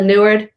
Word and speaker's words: Neward: Carla Neward, know it rhymes with Martha Stewart, okay?